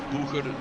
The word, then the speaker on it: Boeger: Boeger, it's Boeger. It's Eurobeat intensifies, and they are German, so it's Boeger that I should pronounce it.